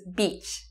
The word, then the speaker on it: beach: Another bad word, bitch versus beach. Beach, you see? It's very important to be able to pronounce the difference between e, smile, and ih, no smile, okay?